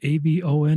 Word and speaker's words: Avon: A ben. Is that how I pronounce it? Yep. Like the makeup company.